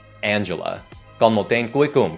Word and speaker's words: Angela: Diễn viên này, mẹ của Black Panther ý, thì nhìn tên cô ấy giống như Angel. Nhưng nó không đọc là Angela, mà là Angela.